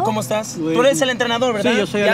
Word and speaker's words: entrenador: Entrenador.